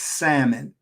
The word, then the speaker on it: salmon: and but people say salmon so the correct pronunciation is salmon so these are some of the things that